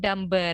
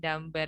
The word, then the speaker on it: dumber: Lagu Icon kan ada ya Dumb and Dumber itu. Tapi dibacanya bukan dumber ya, teman-teman. Harusnya dumb and dumber. Gitu. Karena di sini huruf B-nya itu di silent atau tidak di pronounce ya, tidak dilafalkan.